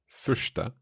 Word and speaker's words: första: Första. Is that an RS in there? Yes.